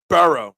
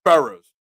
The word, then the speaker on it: Burrow: two days off after it's burrow not Burrows it's not a speech